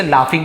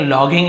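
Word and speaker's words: laugh: हंस पड़े तो इसे लाफिंग पड़ेंगे लॉगिंग नहीं पढ़ेंगे यू जी ए जरूर लिखा हुआ है बट फ लाफ ऐसे उच्चारण किया जाता है और जोर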